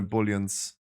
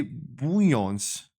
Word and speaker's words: bullion: I need 1 key today on my druid as well to get my bullions. Yay, Scruffy learned to not say bouillons.